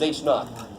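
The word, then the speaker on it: H₀: This is how you pronounce that, is H naught.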